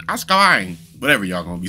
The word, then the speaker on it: Azkaban: Harry Potter and the Prisoner of Azkaban. I know I'm probably butchering that. And I'm gonna be hearing it from y'all. Yo, you're saying it wrong, man. It's Azkaban. Azkaban.